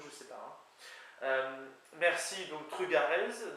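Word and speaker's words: trugarez: sais pas merci donc trugarz donc là ça me permet de parler pour le peu que j'en sache de l'accent qui est en théorie sur la deuxème syllabe syllabe pardon donc truc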